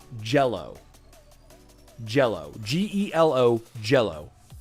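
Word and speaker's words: Gelo: I think that's how you pronounce it. For a while, I was thinking it's Gilo and then Gilo, Gello. But then I was like, it's Jello.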